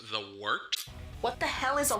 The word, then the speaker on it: Wort: hell is a wart it's pronounced the wart what is it the W yeah okay I'll do that again this is the W on gos radio it is the wart not wart not Fort not short the wart I'm